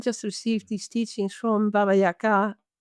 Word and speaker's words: Baba Yaga: receive these teachings from Baba Yaga, as you correctly pronounce it in Russian. We say Baba Yaga, but actually Baba Yaga in Russian.